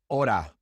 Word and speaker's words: hora: So for example, in hora, hora, hijo, hijo, vehículo, vehículo. You can see in these words that we do not pronounce the H.